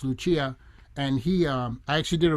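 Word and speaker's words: Lucía: I love Paco de Lucia, and also, well, it's actually pronounced Lucia.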